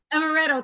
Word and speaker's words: amaretto: amaret, don't even put Is it amaretto? amaretto. Thank you, Mark.